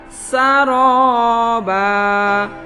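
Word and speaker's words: سرابا: Sa huruf sin fathah, tidak boleh dibaca sya atau so atau tha, harus dibaca saroba.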